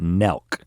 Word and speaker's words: Nelk: have a teenage son i know about nelk n-e-l-k rhymes with belk and these guys um